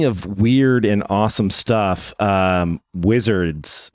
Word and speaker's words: WZRDS: So it is WZRDS. Correct. Basically, no vowels. Wizards without vowels.